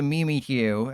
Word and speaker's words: Mimikyu: But they know I can't knock out the Mimi Q.